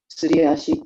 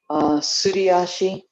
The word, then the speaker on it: Suriashi: And then Suriashi is the sliding foot. If you had to spell it in English, it would be S-U-L-I or S-U-R-I. But anyway, sliding foot, Suriashi.